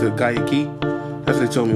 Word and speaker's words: Guayaquil: in GAA key some people might think it's pronounced Gaya Quil but they uh pronounced it Gaya Kei that's what they told me when I was